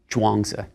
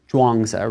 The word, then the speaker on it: Zhuangzi: It's spelled in more recent books as Zhuang, and then that Zi at the end. In earlier transcriptions, it'll be spelled Chuang, but it's always Zhuangzi rather than a CH sound.